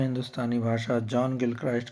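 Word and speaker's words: Gilchrist: ये गिलक्रिस्ट गलत लिखा है, इनका असली प्रोनाउंसिएशन जो है गिलक्राइस्ट है।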